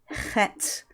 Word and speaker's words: Chet: we have the letter set and it's represented in English with a CH but that does not mean that we should pronounce it as Chuck instead CH represents the